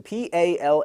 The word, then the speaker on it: Paladone: It is spelled, let me get the thing off here. It is P-A-L-A, so P-A-L-A-D-O-N-E, Paladone.